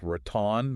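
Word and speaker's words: ratón: So a word like raton meaning mouse. Raton. Exactly. Would need a tilled. Yes. Because it's an aguda ending in end.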